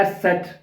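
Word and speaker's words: Eszett: ऐसे नीचे कर तो ये बन जाता है एस सेट क्या कहते हैं इसको एस सेट तो ये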